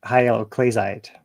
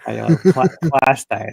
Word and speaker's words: hyaloclastite: No, I'm sorry. Hyaloclastite. That's actually what it says. Or hyaloclastite. I got it wrong too.